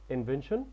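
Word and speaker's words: invention: وطبعا نخلي بالنا ان البي اتش بنطه ا انفنشن بمعنى اختراع ونخلي بالنا ان التي اي ا ان بننطقها شن اب تطبيق موتور بايك دراجه بخاريه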